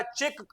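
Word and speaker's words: Czech: गेल कहीं कहीं लिखा चेक चेक गणराज्य सी जड ई सी एच जो लिखा ना इसका मतलब चेक होता है चेक चेक Ganraj are for Republic चेक गणराज्य की है टेगो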